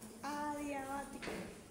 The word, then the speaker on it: adiabático: Adiabático. Adiabático, ¿ok? Bático con un acento en la E, adiabático.